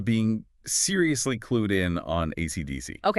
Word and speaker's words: AC/DC: Technically, it's letter by letter, AC/DC. Yeah. Oh, you know, down in Australia, you'll often hear people call him Akadaka.